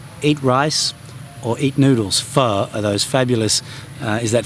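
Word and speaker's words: phở: And you'll notice again the O has a squiggle, which means it's pronounced fur. Well, it's not pronounced fur, it's pronounced fur because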